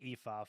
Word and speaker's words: Aoife: they said like it's pronounced Aoife for anyone that is wondering how to do that.